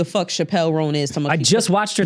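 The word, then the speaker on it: Chappell Roan: you don't know who the Chappelle rone is I just watched her tiny Chapel rone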